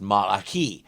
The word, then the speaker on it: Malachi: I know it's pronounced Malachi, which means technically your pronunciation is as wrong as mine.